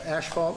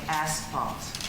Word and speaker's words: asphalt: Uh, ashvalt inspection consultants fee request. I believe you meant to say asphalt.